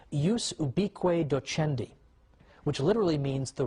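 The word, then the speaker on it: ubique docendi: was something called in in latin and i'm using the church pronunciation ubiqui docendi which literally means the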